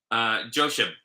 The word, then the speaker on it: Josheb: Josheb. Huh? It's like Josh, but Eb.